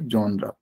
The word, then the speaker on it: genre: इट is pronounce as जॉनरा, GENRE, जॉनरा.